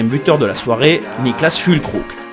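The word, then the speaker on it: Füllkrug: la soirée Nicklas fkook la dernière lettre de son nom est un G quand cette lettre est en fin de mot quand il n'est pas précédé d'un i il se prononce que comme dans cœur et non gu comme dans glace c'est aussi la raison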